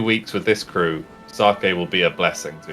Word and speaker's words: sake: It's pronounced sake.